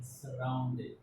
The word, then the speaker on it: surrounded: So remember that there is double R in the spelling, surrounded. S-U, we generally pronounce here sir, not su. We pronounce here sir, surrounded.